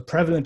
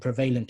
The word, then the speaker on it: prevalent: So prevalent is right and prevalent is wrong. Or inevitable is right and inevitable is something you hear sometimes as well. Inevitable would be an incorrect pronunciation of the word. So you see how the language actually works based on stress.